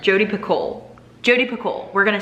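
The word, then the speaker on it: Picoult: how to say it i think she said the ul and the t are silent or the l and the t are silent jodi piccole jody piccol we're gonna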